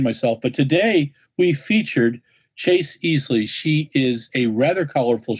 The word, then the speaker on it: Ealey: I called you Easley. It's Chase Ealey.